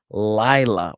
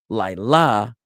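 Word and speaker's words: לילה: So the word is lila with the emphasis on lie rather than lila with the emphasis on la.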